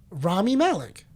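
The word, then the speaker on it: Rami Malek: Ramy Malik.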